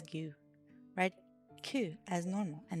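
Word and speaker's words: ぐ: This is gu. You pronounce this as gu.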